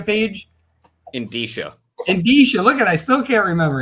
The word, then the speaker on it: Indicia: The Insidia page. Indicia. Look I still can't remember it. Indicia. I got to spell it out.